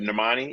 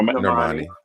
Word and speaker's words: Normani: um wild side by nermani is it normani how do you say her name no normani we're on the right